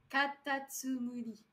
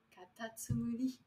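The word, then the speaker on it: かたつむり: Et attendez, comment on le prononce déjà? Katatsumuri. Katatsumuri.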